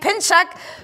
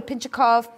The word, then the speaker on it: Pinchuk: and my girl Kate Pinchuk, who I've been giving an extra syllable to her name. I call her Pinchukov, Pinchukov. It's just got a hard name, Pinchuk.